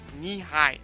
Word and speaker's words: Nehi: And it's spelled knee high, as in Nehi.